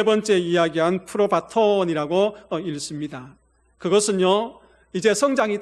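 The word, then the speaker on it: πρόβατον: 그리고 마지막 세 번째 이야기한 프로바톤이라고 읽습니다.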